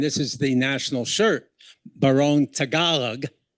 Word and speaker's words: Tagalog: And uh though the Tagalog is not that's now the national language and this is the national shirt baron Tagalog not tag along Tagalog it's pronounced and uh I was